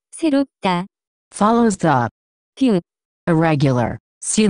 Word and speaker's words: 새롭다: The pronunciation of this word is closer to 새롭다, 새롭다.